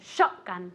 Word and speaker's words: shotgun: say escope very good shotgun this is the same thing Accent on the First on on the first syllable shotgun one more time